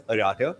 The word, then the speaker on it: Arata: It's pronounced as Arata.